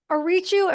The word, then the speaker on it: Ariciu: Gabe Arichu. Am I pronouncing that right?